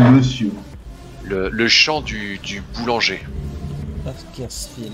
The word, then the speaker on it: Bakersfield: Bakersfield, ouais. J'ai mal prononcé. Bakersfield, on devrait dire en anglais d'ailleurs. Non, j'ai très mal prononcé. C'est Bakersfield. Field.